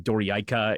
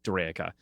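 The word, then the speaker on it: Dorayaica: Sriani Doraka Daka Dorika or Daka those are generally the accepted pronunciations.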